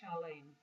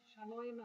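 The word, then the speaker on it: שלום: So in Ashkenazi, we wouldn't say shalom, we would say shalem. Shalom aleinu. Shalom aleinu. And in Israeli Sephardic pronunciation, we would say shalom, as in shalom aleinu.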